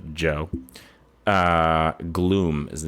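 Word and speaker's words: Djo: artist yeah and that's usually not your D like the letter d j o d j o pronounced by Alexa Joe uh Gloom is the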